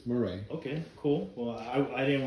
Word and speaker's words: Miret: It's Miret, but everybody says Miret, but it's Miret.